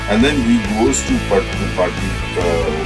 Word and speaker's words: Pataliputra: The student has the debate and the student wins, and then he goes to Pataliputra, which is pronounced as Pataliputra, and then he slinks in as a grass cutter, because outsiders are not allowed to come in for debates.